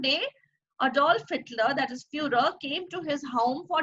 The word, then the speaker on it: Führer: The Fury, because he is not able to pronounce Führer properly.